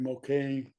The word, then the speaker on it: Moquin: I was on one of the first two or three matches, and with the old pro Larry McQueen. It's spelled MOQUIN.